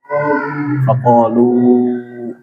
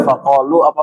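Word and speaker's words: فقالوا: minal jin ya terus Faqalu. Iya. Itu dibacanya faqalu apa faqalua? Nah, sama kayak ya-nya tadi ya. Jadi sama kayak tadi yang pada tanyain Yahdi, bukan Yahdia ya.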